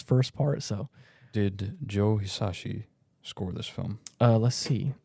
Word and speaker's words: Hisaishi: Oh yes, I've been trying to figure out the correct way to pronounce it for a long time. Joe Hisaishi, who said? Hisaishi, yes, you're right. Joe Hisaishi.